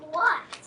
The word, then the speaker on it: what: The E at the end is silent, but so is the H. Just like what? right. W-H-A-T.